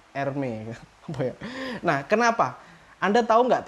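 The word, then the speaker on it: Hermès: meher meher Hermes itu Hermes itu bacanya ermey nah Kenapa anda tahu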